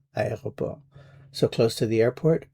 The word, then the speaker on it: aéroport: Keep in mind that airport has four syllables, so the first one is a, the next one is e, then o, and then p. Students sometimes have difficulty with this word, so remember the four syllables. A e o p.